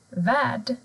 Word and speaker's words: värd: Men har du R och L tillsammans, då försvinner R. Till exempel värd, Karl.